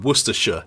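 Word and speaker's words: Worcestershire: Worersha sauce is from Worersha in England. It's Worersha sauce.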